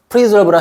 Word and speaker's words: preserve: preserve랑 헷갈리게 만드는 거죠. preserve, preserve, S가 Z 발음 나거든요.